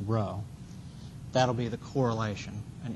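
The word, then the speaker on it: rho: Sort of a sideways P, pronounced row.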